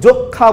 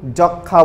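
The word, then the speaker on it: যক্ষ্মা: আদ্য অয়ের উচ্চারণ তখন অ এর মতো থেকে যাবে, মানে স্বাভাবিক উচ্চারণ বা বিবৃত উচ্চারণ হবে। কেমন? যক্ষা, আমরা কিন্তু যক্ষা বলি না, আমরা কিন্তু যক্ষা বলি।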